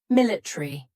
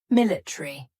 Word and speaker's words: military: letters a r y military in British English they often cut out the a so instead of military it would be military that a is just